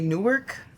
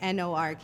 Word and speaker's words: Newark: We don't say Newark Yeah. as it's spelt, like Newark. Yeah. It's almost like Newark. Newark. Like Nork, Newark.